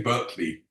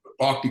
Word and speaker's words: Berkeley: and I came across Barkley Castle you say Berkeley in America Barkley Castle is the first